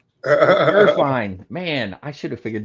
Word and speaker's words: Gurfein: Gerine, like real fine. Gerine, man, I should have figured that out.